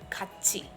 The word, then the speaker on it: 같이: So the pronunciation of tiet becomes tiet, 같이.